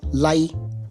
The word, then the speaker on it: Lai: and by the way his name lai which is spelled as l a i unfortunately it sounds like the word lie l i e in